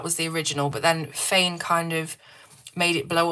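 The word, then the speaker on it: Faynn: I think that's how you say her name on Instagram. F-A-Y-N-N. She saw it from someone else and that was the original. But then Fain kind of made it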